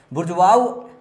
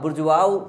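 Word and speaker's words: bourgeois: तो अब बुर्जुआऊ पढ़ लो, बुर्जुआइज पढ़ लो, जैसे मर्जी वैसे पढ़ लो, पर याद तो रखना पड़ेगा। इसकी स्पेलिंग को चलो ब्रेक करते हैं, BOURG, इसको बर्ज पढ़ सकते हो, बर्ज पढ़ सकते हो,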